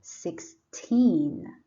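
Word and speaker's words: sixteen: one and six then this word has teen on the second syllable so you put a stress on the second syllable you say 16 and then the other word six and zero is 60.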